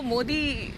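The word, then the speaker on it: Modi: Pronunciation तो मोदी कहलाता है। हाँ, तो इसलिए मैंने कहा दाल और डाल में अंतर है।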